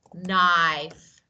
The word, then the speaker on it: knife: don't read okay so K is silent so we don't read we don't pronounce we just okay right